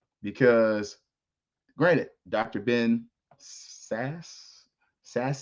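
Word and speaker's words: Sasse: granted Dr Ben sass sass say his name is s e look y'all ain't gonna get me on here calling that man sassy but he was a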